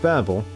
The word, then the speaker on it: Babel: This tower tower the tower of Babel. Uh it's in it's needed to get up to the point. I think it's ba I think it's actually like properly pronounced Babel actually.